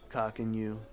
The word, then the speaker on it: Coqinu: How many people will start to get cock and you, not financial advice, but and that is spelled COQINU.